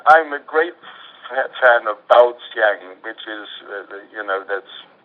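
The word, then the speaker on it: 爆香: a description of it b a o s y a n g is the way I pronounce it it's two separate words um and that's explosion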